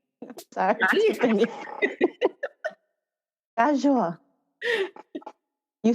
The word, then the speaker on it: KaZoua: When you make the z sound, you're vibrating like the whole of your tongue, like all of your tongue up against your roof. So KaZoua.